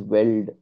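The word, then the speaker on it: veld: America this one here are weld it is pronounced as weld wel these are uh decide the location of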